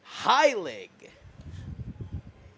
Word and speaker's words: Heilig: The pronunciation is Mike Heilig.